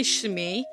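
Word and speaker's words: Shmi: anakin and his mother i never know how to pronounce the name i always say shmee which is technically right but it always sounds like i'm saying the pirate off and pfm but yeah so what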